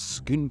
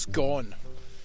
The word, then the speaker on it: Scone: This is Scone Palace in Perthshire. Never to be pronounced Scone, or God forbid, Scone.